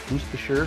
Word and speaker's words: Worcestershire: A little Worcestershire. Yes, that is how you actually pronounce it. Worcestershire.